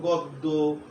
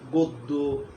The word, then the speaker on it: গদ্য: 3 নম্বর সূত্র হলো অকারের পর যদি জফলা থাকে তাইলে অয়ের উচ্চারণটা ও এর মতো হয়ে যায়, যেমন গদ্য, গদ্য, পদ্য, জন্য।